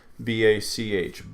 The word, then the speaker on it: Bach: So again, if you Johann Sebastian Bach, B-A-C-H, Bach, not batch or botch, but Bach.